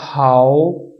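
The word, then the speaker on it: 好: अब यहां पे देखिए एच जो है हे की आवाज बोल रहा है, वो इसलिए कि एच के आगे ए आ गया है, और ए की प्रोनाउंसिएशन, ए का जो साउंड था वो था आ। क्या साउंड था? आ। तो इसलिए इसको पढ़ा जाएगा हाउ।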